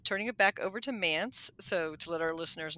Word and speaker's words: MANTS: it back over to mans so to let our listeners know it does rhyme with pants m- an TS and it's the midatlantic